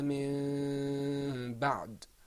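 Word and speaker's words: مِن بَعْدِ: So what you should say is إِلَّا مِن بَعْد. Remember, when there's iqlab, instead of pronouncing the noon, we switch. and we pronounce a half meme.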